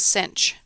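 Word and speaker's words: sinh: The first one is called the hyperbolic sign, si NH, and it's pronounced cinch.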